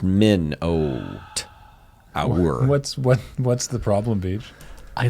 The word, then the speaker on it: Minotaur: There's a Minotaur picking up a column that's like 3 times the size of the I Minotaur. believe it's pronounced Minotaur. Yeah, it's pronounced Min-oat. Our.